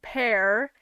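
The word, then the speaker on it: Pers: penguin guy it's named pear um p e r s so the S is silent I really do want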